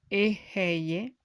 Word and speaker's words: Eheye: Al mismo tiempo, vibrad o entonad la palabra Eheye, pronunciada como Eheye, y después de unos